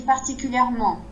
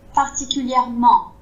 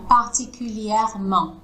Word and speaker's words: particulièrement: Tu vois, là si je te dis particulièrement, c'est parce qu'à l'intérieur c'est pas assez ouvert et ma bouche aussi. Par contre, si je dis particulièrement, tu entends que le en, il est là, à l'intérieur, c'est plus ouvert. La langue est vraiment décollée du palais et c'est ça qui va donner un en.